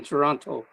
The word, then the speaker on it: Toronto: it correctly oh oh there is no second tea in Toronto it's Toronto okay I'm just going by